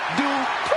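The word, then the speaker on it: Dupri: Michael, it's pronounced Dupree. And representing the Alpha Academy from Phoenix, Arizona, Maxine Dupree.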